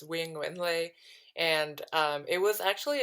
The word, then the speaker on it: Quyen Nguyen-Le: asking yeah i so my name um the way i pronounce it is wing windley and um it was